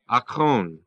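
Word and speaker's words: ἄκων: The Greek is A-K long O-N, akon.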